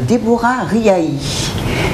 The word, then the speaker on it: Débora Riahi: Et donc, je reçois sur le plateau Madame Déborah Riahi. J'ai bien prononcé ? Oui, c'est parfait.